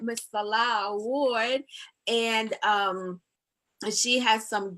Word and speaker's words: Nselaa: All right, so tonight we have a special guest, Nselaa Ward. Did I say it right? Nselaa, yes, but Nselaa, everybody, I Nselaa.